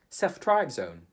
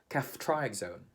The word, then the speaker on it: ceftriaxone: How do we pronounce this word? In the Philippines, we would say CEFTRIAXONE. In the UK, we say CEFTRIAXONE.